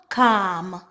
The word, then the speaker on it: calm: With some accent, they actually pronounce the L, almond. So please keep this in mind. B-am, bam. K-am, calm.